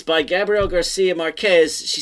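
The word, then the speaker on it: Márquez: aunt Wana there's no such thing and it's Marquez Marquez all right and right they put the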